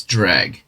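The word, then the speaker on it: Dreugh: the crab looking creatures I didn't know that was how you say it though I thought it was like true or something so it's drag good to know all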